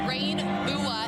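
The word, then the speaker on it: regnbue: It's pronounced Rain Bua, and in both Norwegian and Danish, it is the word for rainbow.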